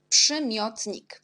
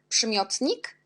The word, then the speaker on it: przymiotnik: Ensuite, on a le mot przymiotnik. Là, on a beaucoup de combinaisons. On a RZ qui prononce je, comme Z avec petit accent.